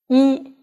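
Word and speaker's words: 一: on e and boo e is the number of one and pronounced originally with the first tone boo it's a negative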